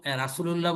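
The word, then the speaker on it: رسول الله: এই যে আপনারা গ তে কিন্তু অনেক সময় একটা গা উচ্চারণ করে ফেলেন। বাংলা উচ্চারাগণ র একা গা। এই উচ্চারাগণটা আপনারা আর আনবেন না। এটা একটু চেষ্টা করবেন র এর দিকে।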